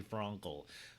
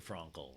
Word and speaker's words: Frankel: yeah I get it I'm saying it wrong on purpose I don't truly think her name is Bethany Franco but it should be right it should be Bethenny Frankel she is she has